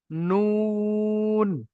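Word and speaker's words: ن: আগা তার বরাবর উপরে তালুর সঙ্গে লাগবে লেগে উচ্চারণ হবে নুন নুন সবাই বলুন নুন এ হচ্ছে নুনের মাখরাজ 10 নম্বর মাখরাজ জীভের আগার উল্টো পিঠ।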